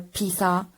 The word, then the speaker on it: pizza: So when you pronounce the word pizza with double Z, you have to pronounce it properly. Pizza and not pizza or pizza, but pizza.